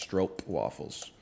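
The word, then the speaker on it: stroopwafel: you just buy regular Stroop waffle bro look at my look at where I am on the map brother slippery pop skills you know what fictive skilled skilled puppies it's actually pronounced stroke waffles that's cool um it's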